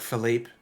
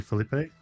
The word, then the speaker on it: Felipe: So it's spelt Philip with an E on the end. Like Philippe or Philip, yeah. That's what everyone assumes it's pronounced, and he's Brazilian. Mm-hmm. It's actually supposed to be Felipe.